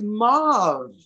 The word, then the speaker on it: mauve: Hey, guys, mauve. mauve. For the rest of the world, he means mauve. Mauve. Mauve. Is that how it's pronounced, really? Yes, it is.